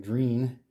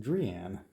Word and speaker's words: Drean: the name of the company, which I was pronouncing Drean, rhymes with dream, and it apparently is actually correctly pronounced Drean.